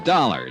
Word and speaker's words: Dollar: It's dollar. Johnny Dollar. Dollar. Huh? He rhymes with color.